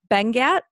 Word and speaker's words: Benguiat: So that would be Bengat, ITC. Not spelled how it sounds. It's spelled Benguiat.